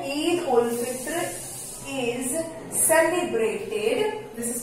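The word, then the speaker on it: عيد الفطر: ईद ul Fitr is celebrated, this is called celebrated. ईद उल, इसको पढ़ेंगे हम उल. क्या पढ़ेंगे? उल. ईद ul Fitr, this is pronounced as Fitr.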